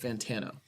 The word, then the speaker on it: Fantano: It's pronounced Fantano.